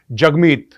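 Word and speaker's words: Jagmeet: ये दिखाया है कि जगमीत is pronounced as जग and rhymes with hug.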